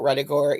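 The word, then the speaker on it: Ruddigore: show another thing about retigor is that its name was the subject of some controversy because it rhymes with a victorian expression bloody gore which to the victorians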